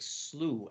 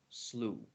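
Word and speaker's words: slough: and like or uh like slew s l o u g h slew oh wow so they're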